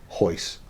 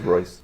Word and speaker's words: Royce: I thought it was Royce. No, that R is Is it in his name? Jesus Royce Hoist. Okay. But is it spelled with it's spelled with an R, but it's pronounced with an H.